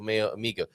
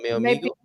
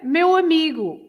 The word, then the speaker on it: meu amigo: Please help me with the correct pronunciation of mio amigo. Did he say something terrible, possibly with a bad pronunciation there? Hola, bon dia, meu amigo. Maybe. But bom dia, meu amigo. Bom dia, meu amigo. Meu amigo, meu amigo.